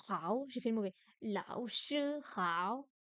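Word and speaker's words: 老师好: Lao shi hao. Le che est un ton 1 et lao shi sont des troisièmes tons.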